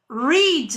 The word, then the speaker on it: read: No, we don't change the spelling, the writing of read. But we change the pronunciation. Read, read, read. The writing is the same, but the pronunciation is different.